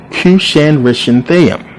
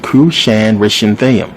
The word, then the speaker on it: Cushan-Rishathaim: hands of, and this is a long one, Cushan-Rishathaim. This is how you pronounce it, believe it or not. Cushan-Rishathaim, who was the king of Mesopotamia.